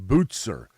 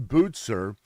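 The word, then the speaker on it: Bucer: Christian faith was Martin Bozer Bozer it's spelled bu U CE ER but pronounced like it has a T Martin botzer Martin botzer was a guy who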